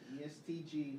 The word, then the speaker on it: ESTG: I didn't know how to pronounce it, because I see it and I'm like, is it SG or is it ESTG? ESTG. Yeah. Fentanyl King.